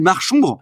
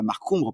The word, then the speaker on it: Marchombre: Et Marchombre, c'est une belle trouvaille. Moi, Marchombre, j'aime bien. On voit, d'ailleurs, on sait qu'on doit prononcer Marchombre et pas Marcombre parce que on imagine la marche et l'ombre.